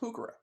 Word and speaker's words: Heuchera: because what Garden pimp is complete without some hookura no but seriously it's spelled h-e-u-c-h-e-r-a but it's pronounced pukara it's named for someone believe it or not